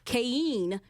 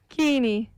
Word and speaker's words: Keinhe: Did I say your last name correctly? Keinhe. Wait. Yes, okay, say it one more time. Keinhe. Keinhe. I added an extra syllable, I feel like I did.